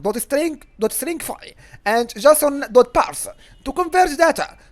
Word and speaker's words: JSON: and a Bueller serialization format is called Json by the way and and pronounced Jason and which stands for